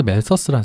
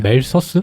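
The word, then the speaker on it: Malthus: TH 발음이 멜더스라고 부르죠. 멜러스라고 부르기도 하고요.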